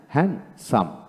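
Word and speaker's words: handsome: না তারপর আসেন হ্যান্ড হ্যান্ডসাম আমরা হ্যান্ডসাম বলি ডি উচ্চারণ করি না হ্যান্ডসাম এখানে ডি উচ্চারণ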